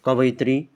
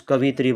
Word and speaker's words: कवयित्री: कवयित्री बोलते हैं, कुछ कवित्री बोलते हैं, ये कवयित्री होता है।